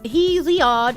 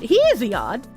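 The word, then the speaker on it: Hesiod: said you should read H pronounce he OD he odd he is the source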